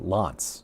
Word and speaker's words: L'Anse: And it's passing just to the south of L'Anse uh L'Anse is how it's pronounced, I believe.